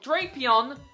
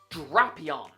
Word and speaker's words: Drapion: Not Drapion, Drapion. And yes, people mispronounce this one too.